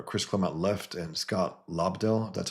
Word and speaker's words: Lobdell: or 8, where Chris Claremont left and Scott Lobdell, that's how you pronounce it, came on.